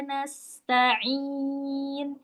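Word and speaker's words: نَسْتَعِينُ: Bu tipis du tipis iyaka na'budu wa iyaka nasta nasta. Nasta nas tipis bukan shad. Ini huruf sin.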